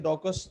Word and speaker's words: DOQUAUS: इसको ऐसे प्रोनाउंस कर लेते हैं, डॉकस।